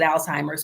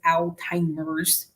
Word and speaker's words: Alzheimer's: And I know I pronounced it Alzheimer's, but it's Alzheimer's. Question 15.